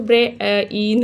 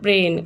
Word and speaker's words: brain: देखो, ब्रे एन, सो ब्रे इन ऐसा नहीं बोलते ना हम लोग, ब्रे एन, ब्रेन। सो आई जो है इसमें साइलेंट हो गया।